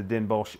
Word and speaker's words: Den Bosch: Now we're in Amsterdam right now, but you're from the Den Bosch area. Yep. Is it Bosch or Bosch? Everyone pronounces it different. It's normal in Dutch you talk Den Bosch.